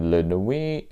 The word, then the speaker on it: La Nuits: should emphasize is called lunar we with an S on the end so you know I'm not gonna pronounce the T and yes cuz you know I've got a great French accent LuAnn we um 1590 the trouble